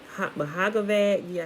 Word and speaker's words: Bhagavad Gita: Bhagavad Gita, I think the B is silent.